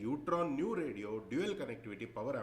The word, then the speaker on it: E-UTRAN: हैं इसको, बोलना है यूट्रॉन। ई साइलेंट होता है यहाँ पर, मगर ई साइलेंट होता है, इसको यूट्रॉन बोलना है, ईट्रॉन नहीं बोलना है, यूट्रॉन बोलना है।